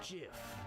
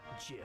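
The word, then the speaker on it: GIF: It's pronounced Jif. Huh? .Jif, like the peanut butter. The creator said so.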